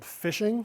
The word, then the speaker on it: phishing: And the general thing we're going to be talking about now is the term that's used is called phishing. So while it's spelled a little differently, it's that same concept that basically these fraud,